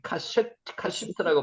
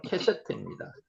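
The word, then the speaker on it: קשת: 여기서는 지금 카시트라고 발음되는데 실제로는 캐셔트입니다.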